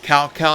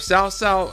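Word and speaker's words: Cao Cao: Half the name pronunciation is wrong. Like uh Sao is called Cowcow in this one. Yes, that's right. If Sao like it's supposed to be pronounced, it's called CowCow in this one.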